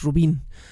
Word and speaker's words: Rubín: Siempre lo pronuncio, trabaja en Estados Unidos, siempre lo pronuncio como si fuera gringo, ¿no? De hecho es David Rubin, el artista David Rubin, así tal cual.